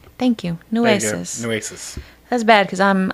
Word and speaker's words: Nueces: And the body was actually found in Nueces River. I don't really know how to say it. Nueces? Thank you. Nueces.